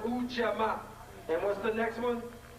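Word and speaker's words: Ujamaa: Ujama. We have this. It's pronounced Ujama.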